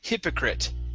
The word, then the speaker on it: hypocrite: now this word here instead of pronouncing an it at the very end this is it hypocrite hypocrite hypoc hypocrite one